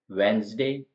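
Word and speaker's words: Wednesday: मतलब होता है किनारा इन स्पेलिंग्स में हम क्लियर देख सकते हैं कि डी का साउंड कहीं नहीं आ रहा है वैसे ही ई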